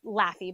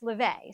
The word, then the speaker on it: Laufey: So her name is spelled Laufey. Okay. Looks like it's Laffy, but it's LaVey.